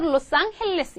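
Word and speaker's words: Los Ángeles: 스페인어로이면 어떻게 되시겠어요 앙헬레스에 그래서 스페어 로스 앙헬레스 이렇게 읽거든요 얘 앙 헬이 스페인어로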